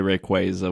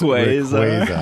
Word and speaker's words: Rayquaza: But yeah, he meant to say Rayquaza. We say it properly here on the show. I was going to say, please, Austin, it's Rayquaza.